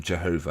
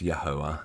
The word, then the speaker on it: Yahuwah: God's name wrong because they call him Jehovah and it's yahuwah there is no J um there was no J back then so uh yeah and